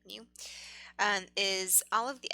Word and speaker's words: mu: expected value we we this is a greek letter pronounced miu miu i guess you would say mu and is all of